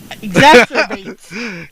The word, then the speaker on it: exacerbates: no evidence that it exasperates. How do you say that? exacerbates. Yeah, it certainly almost looks like masturbates, but it exacerbates.